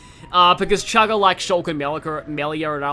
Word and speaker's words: Melia: Because Chugga likes Shulk and Melia, and I like Shulk and Fiora. Melika, that's a weird way to mispronounce that.